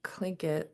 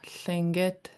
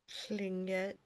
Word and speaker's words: Tlingit: It's spelled with a TL in the English language, but the true pronunciation is a Lingit L. So let's practice that one. Lingit. Tlingit.